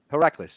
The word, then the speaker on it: Heracles: how you say it can you say it heracles yeah just like that good job yeah so